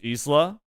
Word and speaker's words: Isla: Isla is pronounced in the Spanish way, like the KOF character. I'm not even sure. In Spanish, it's Isla.